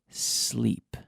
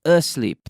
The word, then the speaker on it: sleep: Now, that's an interesting verb in terms of pronunciation because we have to remember to say sleep, not asleep. There's no vocal sound. There's no voiced There's no E in front of the sleep.